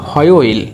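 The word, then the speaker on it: 화요일: তো এখানে ও উচ্চারণ হবে অ, এরপর আছে ইয়োইল, হয়োইল, তাহলে উচ্চারণটা হচ্ছে এরকম হয়োইল।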